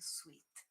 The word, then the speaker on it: suite: Okay, you have um, the room and with a bathroom and suite. Okay, and the uh, sweet is the opposite of, for example, sour or bitter, and the pronunciation is identical.